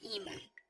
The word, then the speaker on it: IMA: This is pronounced Ema.